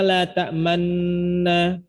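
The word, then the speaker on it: لا تأمنا: Dan ingat, ini cuma isyarat saja. Jadi enggak mempengaruhi daripada bunyinya. Tetap dibaca la ta'manna. Cuman isyarat monyongnya ini yang perlu diperhatikan gitu.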